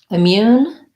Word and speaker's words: immune: also asked about immune immune has second syllable stress has a lack if vowel and mu mu has the glide ya in it so we don't do moon like m-o-o-n we do mu mune um so thinking about